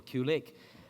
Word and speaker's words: Qlik: queue lick or click it's pronounced click but we'll accept click or cue lick but this might be